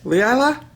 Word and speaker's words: Leila: Leila? Yes. Yes. And you pronounced it right.